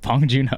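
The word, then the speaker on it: Bong Joon-ho: What What's the Don't let me try to pronounce the director's name. Bong Juno.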